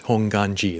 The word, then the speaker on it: Hongwanji: hongwanji but it's pronounced hong ganji the w is silent but hongam means primal